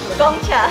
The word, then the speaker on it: Gong Cha: How do you pronounce Gongcha? Gongcha.